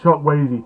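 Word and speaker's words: Chukwueze: It's pronounced Chuck Wazy.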